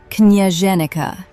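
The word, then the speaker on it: княженика: This berry is called knyazhenica, pronounced knyazhenica.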